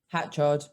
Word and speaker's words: Hatchard: is it your surname do you say hatchard or hatchet hatchard hatchard okay so i mispronounced that